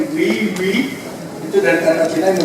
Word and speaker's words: wewe: Dan juga kalau wiwi, jadi bacanya wiwi itu dari kata Cina yang memiliki arti kuat, bergengsi dan perkasa, jadi powerful, precious, and mighty.